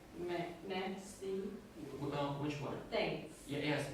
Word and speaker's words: merci: Is the thanks in French pronounced like merci? Which one? Thanks. Yes, merci.